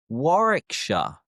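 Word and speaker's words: Warwickshire: England end in shia but the shy is pronounced as sha. For example, Worersha, Worersha, Glostershure, Glostershure, Leersha, Leersha, Hertfordshire, Hertfordshire, Barkshire, Barkshire, Warikshire, Warikshire, Bookinghamshire, Bookinghamshire, Shropshire, Trop Upshshire and mine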